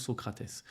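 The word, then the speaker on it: Sócrates: il appelé son fils socrat avec un s à la fin et en brésilien ça se prononce Socrates socratè était un joueur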